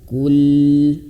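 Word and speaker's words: قُلْ: Kul. Nah, huruf qaf kita pelan-pelan ya. Huruf qaf ini ayah bunda cara bacanya adalah dimoncongkan karena dia berharokat dhammah. Kul. Nah, kul, dan huruf lam dia sedikit dialirkan. Kul.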